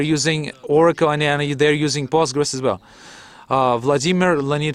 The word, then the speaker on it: Postgres: i'm i'm business person postgres please pronounce it correctly it's postgres or postgresql before i were working